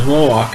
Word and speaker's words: Roark: And so she gets the role in this movie as Ellen Rourke, or everybody pronounces Roark in the South.